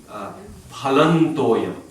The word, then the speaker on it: phalam toyam: The third one, palam, is followed by a T, so it should be pronounced as a na.